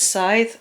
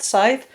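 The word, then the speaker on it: Sadhbh: yes her name is scythe as in it's pronounced like you know like the grim reapers thing or the thing you cut corner with side it's spelt s a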